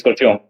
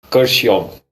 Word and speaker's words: Kurseong: very It's Kurseong. Kurseong. Kurseong. Did I get it right, Ray? Kurseong Can is you basically called pronounce the it?